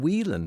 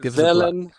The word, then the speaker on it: Welén: I look at it, looks like an Irish name, Whelan, but that's not how you pronounce it, is it? No, not quite.